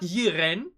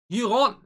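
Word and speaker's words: Yiren: she's written as y-i-r-e-n and how do we pronounce her not jiren but iran what what do what would you pronounce the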